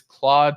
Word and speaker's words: Claude: to anyone who wants to know how to pronounce it it's Claude c-l-a-u-d-e dot a I uh that way you